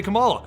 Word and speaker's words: Kamala: Kamala KH is now an Avenger but she is